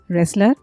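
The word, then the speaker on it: wrestler: पहलवान, रेसलर, इसमें T silent है।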